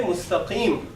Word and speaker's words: مُسْتَقِيم: We'll say mustaqim and we'll stop.